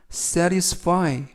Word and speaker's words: satisfy: 이번 표현은 satisfy, satisfy, satisfy 라고 발음하시면 되겠고요. 이때 유의하실 것은 알파벳 T가 트 발음이 아니라 연음에 의해서 르 그래서 satisfy 라고 발음하시면 좋겠습니다.